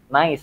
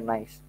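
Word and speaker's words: gneiss: kemudian dia jadi ya sebetulnya dibacanya ya nice bahkan ada yang beberapa nyebutnya nice tapi kalau di bahasa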